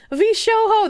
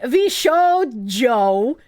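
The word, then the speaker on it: VShojo: lot of patronizing man V Sho that's just how I pronounce it I pronounced the J like H I don't like saying v Joe it sounds silly I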